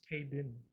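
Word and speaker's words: Kayden: Man, Kayla Carter, man, with her good looking self. He said her name wrong. Kaylin? It's Kaden.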